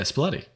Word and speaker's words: Spalletti: Like Italy's gonna be more mad at me than Sean by the way I pronounce this. Impossible. Luciano Spalletti. Oh, yeah, Spalletti.